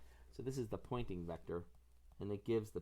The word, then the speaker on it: Poynting: called the pointing Vector spelled with a Y it points in the direction of the flow of energy I used to think it was like Po NT because it pointed but actually pointing is someone's name so this